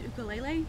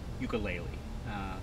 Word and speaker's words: ukulele: you might want to know it is actually pronounced ukulele okay well if you don't mind um I'm just gonna pronounce it ukelele you know my viewers are mostly Americans and